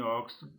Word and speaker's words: óxido: Em óxido, da mesma forma, pronuncia dois sons.